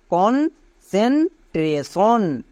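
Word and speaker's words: concentration: CON কোন, CEN সেন, কনসেন, TRA ট্রা কিন্তু না, ট্রে, কারণ এর লং সাউন্ড হবে ট্রে, TION সন, তাহলে পুরোটা কি দাঁড়ালো? কনসেন্ট্রেশন।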